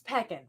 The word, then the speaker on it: pecan: How do you say pecan? Because Pecan. apparently I say it wrong. Pecan. It's peckin'. I got it.